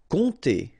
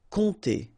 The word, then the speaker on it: compter: Compter, alright, so OM, really like a nasal here, ON, and then this P is not pronounced. Compter.